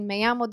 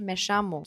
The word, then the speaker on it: me llamo: Arjantin'de şe ses sesleri çok fazladır. Örneğin meyamo değil, meşemu gibi telaffuzları görürüz. Bu konuşulan ülkeye, konuşulan bölgeye göre çok fazla değişiklik gösterir.